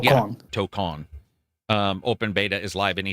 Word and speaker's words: Tokon: How did they pronounce it? Tokon. Yeah, Tokon.